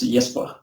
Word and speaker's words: Jesper: Yeah, well, for me it's Jesper. But, Jesper, yeah, that's usually how the English speakers say it.